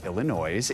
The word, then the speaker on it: Illinoise: I did not pronounce that wrong. That is the name of a new musical, the word Illinois with an E at the end, so Illinois.